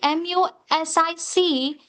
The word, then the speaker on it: music: music sa it's not sa if you see m u s i c it's not sa it is music you must pronounce it as Music nose.